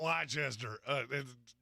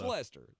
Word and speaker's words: Leicester: It is not Leicester. It's not. That's how it's spelled. It's Lester. That's how you say it.